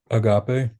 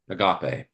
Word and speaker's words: agape: Agape. Agape. So that's how we pronounce that word typically. Agape. You could you could say agape if you wanted to, but most of us probably recognize a agape, which means what?